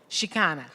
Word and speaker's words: Chicana: Chicana, thank you, Chicana, femme, and uses she, her, hers, Ella, or they, them pronouns.